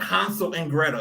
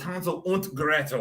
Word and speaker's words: Hansel und Gretel: It wasn't Hansel and Gretel. It was Hansel und Gretel.